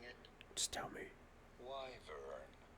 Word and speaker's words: wyvern: How do you go about pronouncing it? Just tell me. Wyvern. Wyvern.